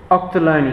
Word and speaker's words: Ochterlony: Octoloni. Octoloni.